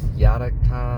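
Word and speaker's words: Janáček: that Theater Festival and Brno place called Internet Yanik ah hard to pronounce it's Yannick Academy it's a type of theater academy or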